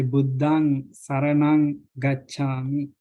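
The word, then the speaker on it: Buddhaṃ saraṇaṃ gacchāmi: Then the next one is nasal. It's pronounced ang, like ang. You say Buddhang Saranang Gacchami. This is the part we pronounce Buddhang Saranang Gacchami. Is pronounced like ang.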